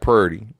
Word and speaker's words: pretty: where your family's from, where they pronounce pretty like purdy. You know what I mean? They don't say the pr is per, right? It sounds more like purr, and it's purdy.